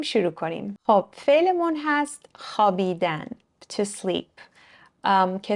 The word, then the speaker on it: خوابیدن: نکته راجع به تلفظش می‌نویسیم خوابیدن ولی تلفظش هست خوابیدن یا خواب واو تلفظ نمیشه می‌دونیم که تفاوت زیاد